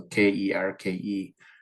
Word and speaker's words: kirke: So Kerke is how they pronounce it.